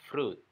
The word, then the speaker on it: fruit: Ini sering mungkin kita dengar orang bacanya fruit, I-nya dibaca. Padahal kata ini harusnya hanya dibaca fruit. fruit, fruit, I-nya nggak dibaca, hanya fruit, fruit, bukan fruit.